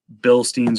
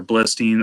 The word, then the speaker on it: Bilstein: But I just have a hard time spending the money on the Bilsteins or Blistein. I've heard it pronounced a few different ways.